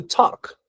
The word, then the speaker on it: talk: ver otro verbo To talk to Talk significa hablar To talk noten que no pronuncio To talk no digo la l la l es como si no existiera se pronuncia como Talk